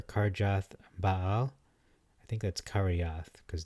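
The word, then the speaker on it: Kirjath: Baal I think that's karyath because the J is actually pronounced like an i and this is kiriath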